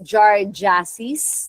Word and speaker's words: giardiasis: So this causes giardiasis, that's how you pronounce that.